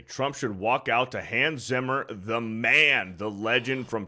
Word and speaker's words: Hans Zimmer: Hans Zimmer. It's Han Zimmer. No, I said Han Zimmer. You said Hans Zimmer.